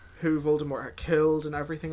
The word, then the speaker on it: Voldemort: And I think it's really interesting when you break down Voldemort's name, because obviously J.K. Rowling has told us that his name is French, you know, and that it's pronounced more, not Voldemort. Mort.